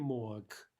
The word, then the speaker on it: мог: Я хотел купить книгу, но не мог. Не мог. Remember that final g is devoiced. Sounds like a ka, right?